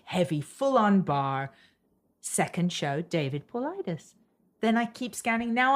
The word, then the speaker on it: David Paulides: Well, I would not have pronounced his name right. David Paulides.